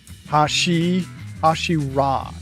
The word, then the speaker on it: Hashira: Hashira is how it's pronounced.